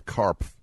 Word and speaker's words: Karpf: It is by a British sociologist and columnist for The Guardian, Ann Karpf. So you know how to spell it now since none of the letters are silent.